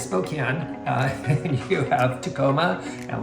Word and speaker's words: Spokane: Yeah, Spokane on the east side is not Spokane. It is Spokane.